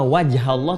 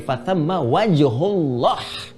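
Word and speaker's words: وَجْهُ الله: Bukan fathamma wajhallah, tapi fathamma wajhullah.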